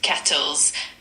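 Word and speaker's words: quatorze: Number 14 in French is pronounced kettles.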